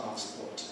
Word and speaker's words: passport: What's Japanese for passport? Where does come in Japanese? Where does it come in English? On the pass passport or American passport, but still on that first syllable.